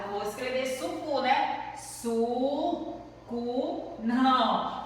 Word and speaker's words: suco: A gente fala, a gente pronuncia suco, sapo e sino. Mas só que não é com U. A gente usa o que? A vogal O.